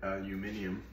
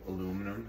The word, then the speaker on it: aluminium: no reason why the people in the UK decided to start calling it aluminium. It was originally called aluminum, and I guess they thought it sounded cooler. But that's it. You got two separate pronunciations.